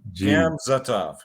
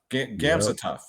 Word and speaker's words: Gamzatov: Shamil Gamzatov. Gamzatov.